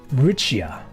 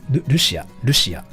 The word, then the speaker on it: Lucia: being like isolated so is my name pronounced riccia it's lucia anyways and i thank you